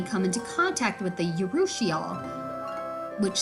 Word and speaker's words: urushiol: Poison ivy, poison oak, and poison sumac all produce an oil called urushiol, pronounced urushiol.